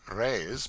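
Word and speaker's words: reis: the Portuguese pennies or Rays pronounced rays are prodigious it takes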